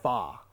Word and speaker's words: pho: pronounced? Fa.